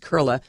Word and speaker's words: Koehle: It's German, but it's Koehle, pronounced Koehle.